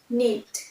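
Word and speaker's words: knead: Next, need, need, here K will be silent, KNEAT, need.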